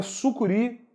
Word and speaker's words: sucuri: Sucuri não leva acento por ser uma palavra oxítona terminada em i. Oxítona terminada em i não deve ser acentuada. Agora, se fosse paroxítona terminada em i, deveria ser acentuada. Oxítona não. Sucuri, sílaba tônica é a última.